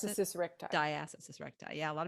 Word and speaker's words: diastasis recti: Is that what's how you pronounce it? diastasis recti.